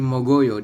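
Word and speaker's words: 먹어요: ya di depan ini mok ditah akhir Oyo Jadi mogoyo dibacanya artinya adalah makan jadi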